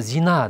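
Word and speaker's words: زنا: Біреуі Зина деп қояды, біреуі Зина дейді. Яғни ударениесіне бірінші и-ді созады, екіншісі а-ны созады. Ал жаңағы күнәні оны Зина дейді. Зина а деген әріп созады. Ал зина болатын болса, ол сән деген мағынаны білдіреді.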